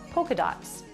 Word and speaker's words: polka: Polka dots. This pattern is called polka dots, with a silent L.